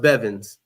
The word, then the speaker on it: Bevans: okay yes ma' and it's pronounced beevans okay all right okay uh now when